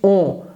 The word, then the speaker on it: on: Então observe, a gente não diz on como em ônibus. A pronúncia não é essa. On como em ônibus. A pronúncia é on. Então a gente tende a pronunciar a letra N de forma pausada. Você vai posicionar a ponta da sua língua no céu da sua boca, atrás dos dentes de cima, e vai soar on.